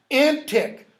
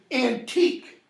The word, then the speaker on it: antique: nor these fairy toys antic notice I'm pronouncing the pitch that is the pronunciation that would have been close to Shakespeare's right we read that word because it spilled a certain way and we say antique meaning really old it has both that